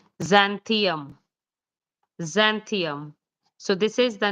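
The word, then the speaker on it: Xanthium: So it will be pronounced as zanthium.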